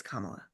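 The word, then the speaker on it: Kamala: like her to just call every time he mispronounces her name to say it's kamla just like I'm talking I'm talking right right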